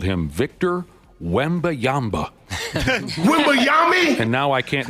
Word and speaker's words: Wembanyama: That's the legitimate pronunciation. Wembanyama, right? Yep. We got audio of the one guy going, Wembayami?